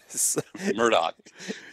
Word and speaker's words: Murdaugh: Murdoch yeah yeah or hey say it right Murdoch it is I've had to train myself it's Murdoch yeah okay murder okay I will we'll we'll